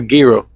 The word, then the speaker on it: gyro: What's a gyro? Isn't that meat inside of like a fla like a like a um like peter bread or some That's a girro. A girro.